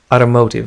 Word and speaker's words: automotive: إذن في أمريكا ينطقون ت بطريقة تشبه د. Automotive, automotive, automotive. لاحظوا الشد على إم. Automotive industry, automotive industry. لكن في بريطانيا تنطق automotive, automotive, automotive, automotive. لاحظوا الفرق.